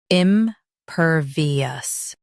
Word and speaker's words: impervious: Both US and UK have the same pronunciation of this word, impervious. Now read the syllables shown on the screen naturally. Impervious. Impervious. Stress pure and keep vious smooth.